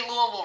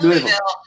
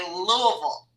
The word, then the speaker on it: Louisville: Y'all come to Kentucky, and I gotta make sure you say Louisville right, not Louisville. Here's how the locals say it: like you got a bunch of marbles in your mouth. You gotta say Louisville. Louisville. Okay, we'll get it now.